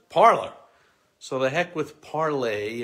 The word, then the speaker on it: Parler: social media app parlor the mispronunciation parlor was meant to be parlay as in the french to talk parlay but of course who